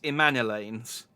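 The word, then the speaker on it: Emmanellain: see i told you i've been calling it emma emma emilin elaine and it's emmana lanes i knew i'd pronounce i knew i was pronouncing it wrong in manila why can't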